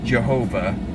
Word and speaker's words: Jehovah: Some people in the past have pronounced it Jehovah.